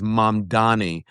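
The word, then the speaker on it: Mamdani: He went through and he goes, "And by the way, the name is Mannani.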